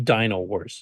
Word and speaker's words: Dino Wars: Yeah, I will mention it's been pronounced both ways, but from the original author himself, it's actually Dino Wars. It's not Dino.